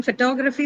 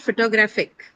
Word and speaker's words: photography: yes ma'am second then photography The T is stressed that the T syllable is the one that is stressed and T is the first sound of that T syllable. So it is stressed but it's right. How about photographic? Photographic here it is not stressed because in photographic the stress moves to the third syllable graph. Okay.